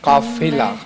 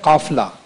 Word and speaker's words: قافلہ: ایک جہاں آپ نے پڑھا ہے قافلہ, قافلہ نہیں ہے, لفظ ہے قافلہ.